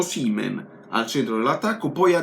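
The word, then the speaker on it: Osimhen: non giovani o siemens si dice con l'accento sulla i seamen o seamen l'ha detto il fratello lo saprà il fratello o seamen ricordiamoci questo o si me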